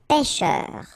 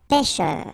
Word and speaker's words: pêcheur: On the top of it will open the sound. So you get really open. Okay, so pêcheur, pêcheur, and then E-U-R, okay, un pêcheur.